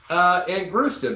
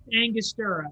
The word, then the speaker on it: Angostura: I ran out of fucking Angrusta bitters today, but I got plenty of other bitters. Wait, what'd you say? Angrusta? I don't know. How do you say it? Angrusta? Angostura, because Angostura bitters?